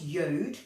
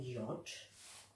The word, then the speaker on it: Yod: It is pronounced Yod or Yod.